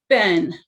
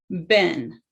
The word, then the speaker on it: been: when they spell it they have to say like ben b e e n ben so three times okay